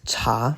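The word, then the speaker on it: 察: It's cha, second tone, to closely examine or observe.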